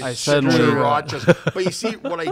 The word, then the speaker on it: Tsarouchas: I'm Greek. I didn't change my name. It's Tsarouchas. Nobody can. Tsarouchas. Pronounce Surukas. it.